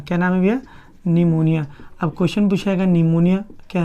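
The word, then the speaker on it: pneumonia: ध्यान दीजिएगा, इंग्लिश लिखा जाएगा तो P साइलेंट होता है इसमें, निमोनिया।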